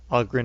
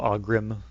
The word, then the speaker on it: Ogren: All the dwarves, I have Bodon, I always call Bodak, and Ogren, I always call Ogrim.